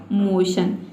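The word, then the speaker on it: motion: तो देखिए MO का हो जाएगा मो और TION को हम पढ़ते हैं शन, तो इस तरह से इसका प्रोनाउंसिएशन हो जाएगा मोशन।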